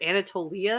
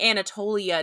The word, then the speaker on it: Anatolia: don't know how saying Anatolia doesn't help you understand what Anatolia is so in the show's defense in Greek the accent is on the is on the E oh no I take